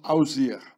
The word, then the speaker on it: Osiris: The name of Osiris was pronounced Ausir.